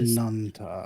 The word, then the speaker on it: Ananta: Oh, it is Ananta.